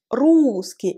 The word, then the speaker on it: русский: Русский. À votre avis, où est l'accent tonique? L'accent tonique est sur le U. Русский.